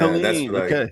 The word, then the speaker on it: Helene: How are they pronouncing that hurricane? Helene? Is this Helene? Yeah, Helene.